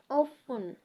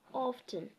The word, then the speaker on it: often: uh wrestle whistle yeah that's whistle often instead of often so yeah then we have rating sounds with